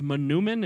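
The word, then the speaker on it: manoomin: food grew on water that food on water in our language is pronounced monument and it means the good seed in your language you know it as wild rice and we met lots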